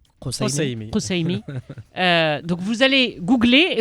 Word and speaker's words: Kassoumi: Comment on prononce Kousseimi ? Kousseimi.